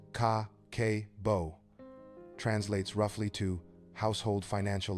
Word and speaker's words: Kakeibo: Kakibbo pronounced ka kbo translates roughly to household financial ledger.